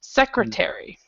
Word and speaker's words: secretary: secretary okay secretary yeah so this last part is the part that you didn't pronounce secretary okay very good very